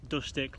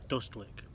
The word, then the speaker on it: Dustlik: Not Dustik like I pronounced it before, that was wrong. It is actually called Dustlik.